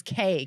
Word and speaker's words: Kaye: My last name is Kaye, Kaye. Just K, like a K.